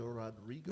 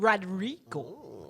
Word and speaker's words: Rodrigo: know who the best new artist was olivia rodrigo i kind of like she has this one song that i listen to i kind of like but yeah i saw that olivia rodriguez rodrigo yes yes and i did see a picture